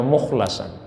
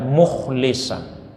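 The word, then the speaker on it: مُخْلَصًا: Musa innahu Kana mukhlasan mayoritas ulama kita membacanya mukhlasan ada yang membaca mukhlisan baik itu mukhlas maupun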